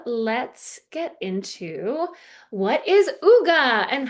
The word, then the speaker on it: hygge: I was pronouncing it hygi. But it is Ugga.